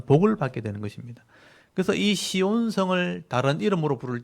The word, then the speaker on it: 시온: 차대 그러기도 하는데 그래서 치온 또는 찌온 이렇게 부릅니다 찌온이라고 하는데 우리나라 발음으로 이게 쉽지 않잖아요 그래서 그냥 시온이라고 발음을 하는 거예요 시온 그래서 이걸 보호받는다는